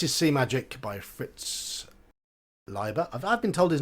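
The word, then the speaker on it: Leiber: okay so this is sea Magic by Fritz liba I've been told his name is pronounced liver I would always said Libra e i in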